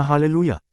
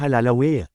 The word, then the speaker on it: hallelujah: Isa pang ang Hebrew word na hallelujah. Ito ay may apat na consonantal vowels na kasama pero nilagyan pa rin nila ng vowel kaya naging halalaw.